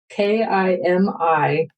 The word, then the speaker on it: Kimi: It's spelled K I Mi, pronounced Kimi, like Mimi with a K.